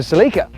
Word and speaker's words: Celica: reincarnated as a toyota seleca at least that's how i've heard it pronounced by people in the uk but since i'm from america you'll keep hearing me call it the celica with a huge public